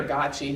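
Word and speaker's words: Gøtzsche: It's a technical book, and I know it's hard for a lot of people to get to, but it's written by Peter Gottsche, who's head of the Cochrane Collaboration.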